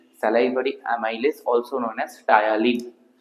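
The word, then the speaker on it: ptyalin: Main যে এনজাইমটা কাজ করে আমাদের বোলাসের উপর, that is salivary amylase, also known as টায়ালিন। টায়ালিনের spelling হচ্ছে এটা, অলসো নোন অ্যাজ টায়ালিন, পিটা সাইলেন্ট, হ্যাঁ, টায়ালিন।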